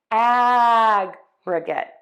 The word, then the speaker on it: aggregate: In this word, in the noun or the adjective, we are going to stress syllable 1. So let's put it all together. Aggregate, aggregate, aggregate, aggregate, aggregate.